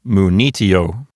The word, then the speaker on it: munitio: Let's look at the penult, which is T-I. Does it contain a long vowel? No, the I is short. Is it a closed syllable? No, T-I is an open syllable. So there's nothing making that penult into a long syllable. So the accent goes to the antepenult, which is N-I. So this word sounds like munitio.